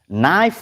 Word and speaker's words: knife: Knife, what is the first letter? Knife. Do you know knife? Knife, yeah, okay. The first letter is K, but K is silent.